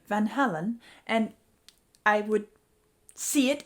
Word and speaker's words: Van Halen: In my first half and in my announcement, I was saying Van Halen, and a lot of you have called me out on that and said it's Van Halen.